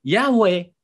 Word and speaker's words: Yahweh: mereka bilang youtuve itu yhwh itu dibacanya yaweh pada menurut sejarah Israel